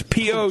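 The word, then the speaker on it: Põhjala: It's Pojhala, and it had like a tilde over the O, and all these kind of.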